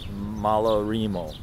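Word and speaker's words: Malarrimo: transportation by nick as usual anyway this is malarimo everybody corrects my spanish pronunciation it's pronounced malarimo anyway we're here to see the whales and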